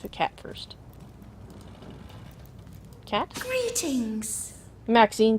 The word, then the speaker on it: Maxine: the most Exquisite varieties Maxine rhymes with Queen after all and dearest